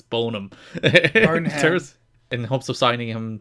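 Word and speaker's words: Boneham: had discussions with rert bonum of Survivor Fame and hopes of signing him to work it's probably Bonham but uh the E is there so I'm going to pronounce it it's bonum in hopes of signing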